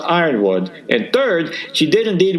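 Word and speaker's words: Yronwode: "First, Cat is a woman, and second, it's pronounced Ironwood, and third, she did indeed work for the Comics Journal."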